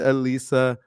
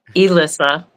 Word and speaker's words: Elissa: Today we're talking with Alisa. How we doing today, Alisa? Good. I keep forgetting. Elisa, I don't say it right sometimes.